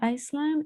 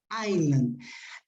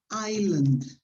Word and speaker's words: island: the word island s the s is not pronounced so island if you say iceland it's possible but it's a different word be careful with this is pronounced island right different from this